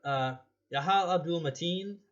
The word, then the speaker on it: Yahya Abdul-Mateen: But Yahya Abdul-Mateen, I think is how you say it, did an absolutely amazing job as Manta.